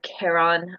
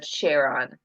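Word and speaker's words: Charon: souls across this River so you have pronunciations of Kon or uh cheron so Kon the Fairman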